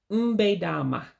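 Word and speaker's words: Mgbede ọma: Good evening in Igbo would be, this is one that you have to also drop that second E, so you won't pronounce it. So to say good evening would be mbe dama. You run all the words together.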